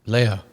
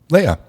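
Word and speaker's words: Laia: Leia, how do you pronounce? L A I A. Leia. Leia.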